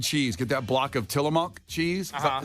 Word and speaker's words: Tillamook: Get that block of Tillamook cheese. Is that how you say that? Tillamook?